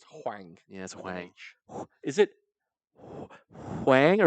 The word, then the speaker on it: Huang: name again Huang jangli I've been saying Quang for like three years that's fine it's Huang yeah is it Wang